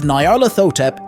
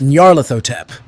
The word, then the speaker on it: Nyarlathotep: from Salem to serve Nyarlathotep in another dimension. Okay, sorry, I butchered that one. It's Nyarlathotep.